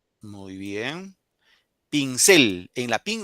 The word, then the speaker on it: pincel: Si fuera ahí la I, diría pincel.